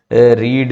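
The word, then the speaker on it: read: जैसे कट, put, cost, cast, telecast, broadcast, overcast, स्प्रेड, बेट, बिड, ब्रिड, रीड, late. रीड बस आपका pronunciation बदल जाता है, उसे रेड कह देते हैं बाद में।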